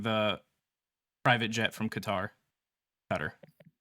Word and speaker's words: Qatar: Qatar. That's the closest English pronunciation.